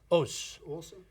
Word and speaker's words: Aas: Kore cor uh and the last name is pronounced o o cor o there you go there you have